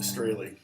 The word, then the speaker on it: Strahle: Yes, it's pronounced Strahle.